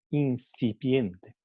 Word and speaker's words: incipiente: Pero si pronunciamos incipiente, vamos a notar que en el momento de pronunciar n, la lengua está entre los dientes, es interdental, porque se ha visto afectada por la f, por el sonido f que viene después.